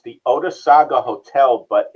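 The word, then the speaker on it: Otesaga: at and I want to thank you for pronouncing it for me the OA did you say oh it's the ois Saga Odis Saga thank you a stately Lakefront hotel in Cooperstown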